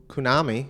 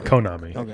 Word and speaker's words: Konami: and try to um sue kunami for uh you go kunami kunami that that was the maker of the game that's how they say it a Konami I've been saying it wrong all the time saying